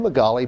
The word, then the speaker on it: Magaly: On today's show, we welcome to the studio Sharon Wilkins and Magali from the Haiti mission trip. Did I pronounce it right, Magali? Yes.